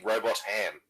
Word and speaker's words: Robotham: Robot Ham, which is very exciting. I'm not sure that's actually how you pronounce it. It might be Robotham, yeah. Robotham, yeah.